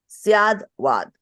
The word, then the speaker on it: Syadvad: Anekant as well as Syavad, however you pronounce it. Syadvad.